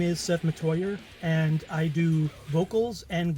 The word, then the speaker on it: Metoyer: for having me on my name is seth matoya and i do vocals and guitars in mangle